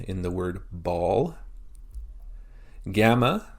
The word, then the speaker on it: gamma: Gamma makes the G sound like in ground.